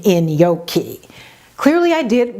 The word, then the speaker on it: gnocchi: I love in yoki as it turns out I didn't know how to pronounce gnocchi I won't even tell you how badly I pronounced it because I still feel embarrassed when I think about how the server corrected me when I ordered the dish pronouncing it the way I thought was right the server pause looked at me and said you mean in yoki clearly I did mispronounce